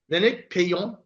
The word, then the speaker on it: Lénaïc Peillon: So we have Lénaïc, Peillon.